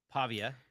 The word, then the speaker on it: Pavia: Uh maybe those two guys Uh let's talk about the the I'm going to try to say his name right, right? Pavia. Is that right? think Yep. That's correct.